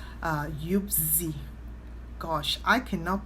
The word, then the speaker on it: Yuzpe: It's Yuzpe.